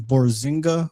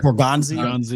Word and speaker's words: Borgonzi: So my question would be, just how much does Eberflus and is it Dave Borzinga, or I can't pronounce his last name, the linebackers coach now. Borgonzi. Yeah. It's like a food truck.